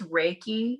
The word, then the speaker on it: Reiki: Is that, am I saying, it's Reiki. Yeah. Reiki. Okay. I knew I was going to say that wrong because I say it like I see it spelled, but Reiki.